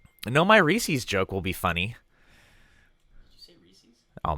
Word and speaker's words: Reese's: just as wrong as people who say Reese's because it's the iPhone 10 its Reese's its Reese's Pieces it rhymes well exposition is a key